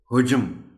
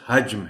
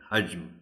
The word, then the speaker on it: حجم: کے ساتھ ہی پڑھیں، اس لیے کہ عام طور پر اسے حجم پڑھ دیا جاتا ہے۔ یہ لفظ حجم ہے، حجم۔ کوئی بھی باڈی، کوئی